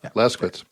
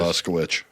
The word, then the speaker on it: Laskowicz: Yeah. Lasquitz. It ends in WICS. TZ. Oh. W-I what? CZ. Yeah, so it's Quiz. Laskowicz.